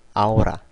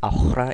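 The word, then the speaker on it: ahora: 자 아에 대해서 알아볼까요 아체의 경우에는 어 영어의와는 다르게 어떤 경우에도 소리가 나지 않는 무음이에요 발음해 보도록 할까요 오이 아오라 아셀 예 스페인어 초보자분들 경우에 이거로 호이 아호라 이렇게 발음하시는 분들도 있어요 처음 배우시는 분들은 근데 절대 헷갈리시면 안 되고요 절대 그냥 없다고 생각하시고 그냥 발음 하셔도 돼요 오이 아오라 아셀 이런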